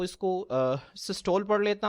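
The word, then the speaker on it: systole: अब बच्चों यहां पे जो है मैं अक्सर जो है वो इसको सिस्टोल पढ़ लेता हूं। ठीक है? लेकिन मैंने आपको बताया है कि इसकी जो असल प्रोनाउंसिएशन है वो सिस्टोली है।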